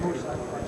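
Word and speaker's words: Moed: M-O-E-D, pronounced Moody.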